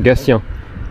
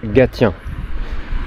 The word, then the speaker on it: Gatien: jamais je me trompe il me semble que le T se prononce ce pour Gatien pas gâtien dites-moi si je me